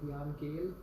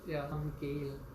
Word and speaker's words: Jan Gehl: It's called Jan Gehl. How do you spell it? It's G-A-N, Jan, and then Gehl. Jan is J-A-N, and then Gehl is G-E-H-L.